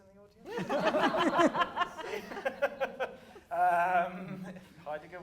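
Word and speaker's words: Heidegger: the audience uh um haiger wasn't a fascist or higer as I'm obliged to pronounce it because that's what my dad would always say hyeran uh were never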